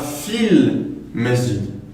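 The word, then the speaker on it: في المسجد: Donc on dira fil masjid. Et donc encore une fois, ici on dit el masjid, donc on prononce le lem, parce que le mime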